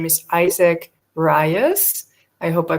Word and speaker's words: Rios: His name is Isaac Rios. I hope I pronounced that right. Rios. Rios, thank you.